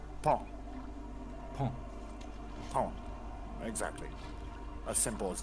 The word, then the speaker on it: paon: Yeah, for Frank, it's pronounced pon, but the O is silent.